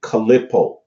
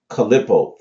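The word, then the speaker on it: Qliphoth: Tree of Life are called the calippo calippo all right or collie Pope khalipa or collie Pope and it's spelled like this ql IPP oth so we're going to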